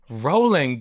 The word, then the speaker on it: Rowling: Rolling. Come on, Jade. Rolling. Rolling. Her last name is Rowling.